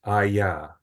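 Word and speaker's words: אהיה: the in Hebrew, and it's ayah, and it's like haya. It's kind of like a breath that comes out.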